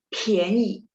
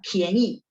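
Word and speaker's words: 便宜: ya 便宜 ya PH PH. Jadi kita tambahin H secara sadar. Oh ini bacanya PHIAN gitu ya. 便宜便宜.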